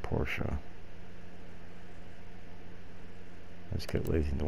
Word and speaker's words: Porsche: school that is the question H th some Porsche wheels on it and yes I know it's pronounced Porsche I just get lazy don't want to say